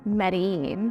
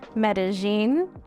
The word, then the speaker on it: Medellín: It's Medellin, or also pronounced Medellin. I seem to pronounce it both ways.